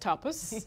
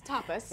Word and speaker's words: tapas: the the Tois because a lot of people mispronounce it first and foremost topus yeah it's topus right it's to us to you want to